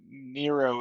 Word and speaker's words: Nrvnqsr: For anyone watching at home, I showed how Nero is spelled, which is Nrvnqsr, because That is not a Unless word.